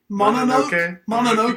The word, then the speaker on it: Mononoke: Mononoke.